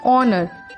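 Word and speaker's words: honour: ऑनर, H silent है, हम इसको पढ़ते हैं ऑनर, साउंड आ रहा है ओ का, ऑनर स्वर है, एन ऑनर।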